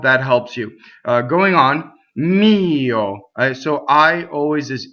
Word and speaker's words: mio: Going on, mio. So I always is e. It's a phonetic vowel in Italian, meaning it's always exactly the same. Mio. Okay, and this O is also closed.